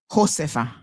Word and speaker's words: Josepha: I feel like if it's a Spanish name, it should be like Josepha.